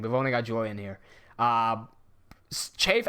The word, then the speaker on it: Cheif: Chafe as in CHEIF. If you spell it Chief, we're gonna pull the wrong on you. Chafe, not Chief.